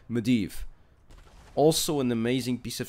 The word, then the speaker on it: Medivh: Yeah, that's how you pronounce Medivh.